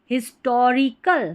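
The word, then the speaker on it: historical: आई एस हिस हिस टो टी ओ को टू नहीं पढ़ना है। लगभग ऐसे है ना टो पढ़ा जाता है। टो री आर आई को राई नहीं री और सी एल कल हिस्टोरिकल।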